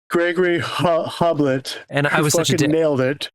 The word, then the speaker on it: Gregory Hoblit: Gregory Hoblit. Gregory Hoblit.